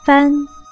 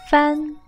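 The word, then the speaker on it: 饭: teach you today is fun meaning rice with the initial four and a final and you with it foreign fan foreign fan this word used the fourth tone so fan fan fan fan fun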